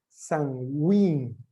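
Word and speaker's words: Samhain: escoceses llamados an wayne bueno se escribe sanhaji y me parece no pero es la pronunciación es sunwing y significa festival de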